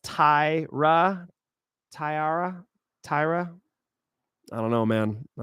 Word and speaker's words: Taira: It's pronounced Taira.